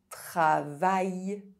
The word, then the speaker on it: travail: AIL is only pronounced I if it is at the end of a word. Travail. Elle.